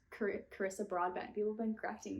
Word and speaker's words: Carissa: up, it said that her name is pronounced like Teresa, but with a C. So to me, that's Teresa.